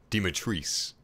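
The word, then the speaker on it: Dimitrescu: and of course domiteresque i can't believe eurogamer said that capcom said that the official pronunciation is dematrice when ethan says it's domitress anyway um there's different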